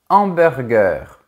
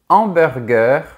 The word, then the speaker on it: hamburger: En effet, le mot hamburger commence par un H aspiré et il ne faut donc pas faire la liaison.